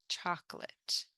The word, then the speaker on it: chocolate: social original original choclate notice we don't really pronounce the O and we pronounce this more like Chate chocolate familiar familiar crime crime